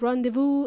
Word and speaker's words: rendezvous: Rendezvous is pronounced rendezvous, and it's spelled with difficulty, okay? R-E-N-D-E-Z-V-O-U-S. I think it's a French word, but it's pronounced rendezvous, okay?